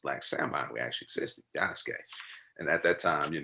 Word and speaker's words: Yasuke: salmon we actually existed yasuke and at that time you know that's when i was jacking and i was calling yasuki you know everybody feels like you don't know correct pronunciation you jack it up but uh yeah